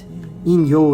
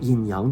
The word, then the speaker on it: In-Yo: In-Yo is the Japanese pronunciation for yin-yang. I didn't want to call it yin-yang because then people have that image, it's Chinese and it's yin-yang, right? People in America say yin-yang. It's not. In-Yo means it's light and dark.